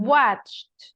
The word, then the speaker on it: watched: This one, Mm, watched, like with a T, watched.